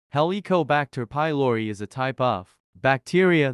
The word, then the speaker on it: Helicobacter pylori: H pylori heliobacter pylori pronounced helicobacter pylori is a type of